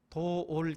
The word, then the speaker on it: 도올: 유명한 사람인데 도올 김용호. 이 도올이라는 말 빨리 발음을 해보세요. 돌.